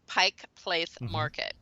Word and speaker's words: Pike Place Market: the wrong State and locals say Pike Place Market we don't say Pikes okay Market or if we're going to shorten it we say the market and any other name